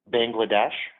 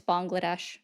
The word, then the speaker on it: Bangladesh: Bangladesh. Incorrect. It's Bangladesh. Have a great one. You just said Bangladesh.